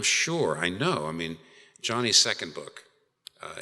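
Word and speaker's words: Joni: I know I mean Johnny's second book uh it's by the way it's spelled J O N I know it's sounds like I'm saying it's it's not Joanie it's Johnny it's how it's pronounced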